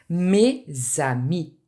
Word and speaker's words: mes amis: So it's very important that you make the liaison here. Aux États-Unis. Mes amis.